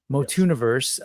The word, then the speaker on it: Motuniverse: Motuniverse, um, which is pronounced like tuni, like uni, not like tuna, because I know Mikey